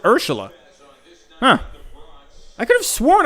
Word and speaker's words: Urshela: year that whole year oh is it urshela i thought i was pronouncing it wrong i don't know why i got a yankee i got a yankee fan friend he always says he always says ursula huh i could have